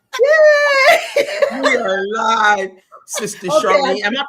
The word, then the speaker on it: Charlene: We are live, Sister Charlene. Am I pronouncing your name right?